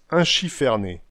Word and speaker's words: enchiffronné: À Boulogne, enchiffronné se prononce inchifferné, puis est devenu unchifferneil, unchiffernail ou bien unchiffarnail, selon les différents endroits du pays boulonnais.